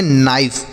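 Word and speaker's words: knife: इसे हम पढ़ते हैं नाइफ। क्या पढ़ते हैं? नाइफ। यहां पर जो के है बच्चों, यह साइलेंट रहेगा। इसे नहीं पढ़ेंगे।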